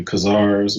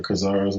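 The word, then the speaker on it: Khazars: to the best authorities but the two are pronounced so either kazars with a k or kazars with a c okay so um here's the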